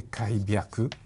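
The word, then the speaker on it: 開闢: Et on trouve Kaipi, qui se prononce en japonais Kaibyaku.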